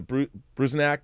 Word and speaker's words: Bruzenak: Howard Chaykin's American Flag, but seeing how it was Bruzenak, that Ken Bruzenak, is that how you pronounce his name?